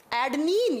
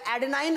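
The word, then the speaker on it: adenine: एडनीन या एडेनाइन, आप जैसे भी इसको प्रोनाउंस करें।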